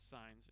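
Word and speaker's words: Saenz: Well, to the best of our knowledge, this roster has 2 Signs as players, and the head coach name is Signs, and they aren't related. And that is spelled S-A-E-N-Z.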